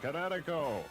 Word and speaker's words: Kinetico: Oh, son, you should have remembered kinetic as in kinetic energy with an O on the end. Kinetico.